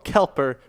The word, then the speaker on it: Kelper: Kelper rhymes with helper with $100 tonight.